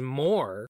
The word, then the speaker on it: Moa: And Moa's name is more in English. That's how you pronounce that.